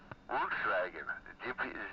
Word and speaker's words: Volkswagen: The Volkswagen. That's how they say it in Deutsch. Volkswagen.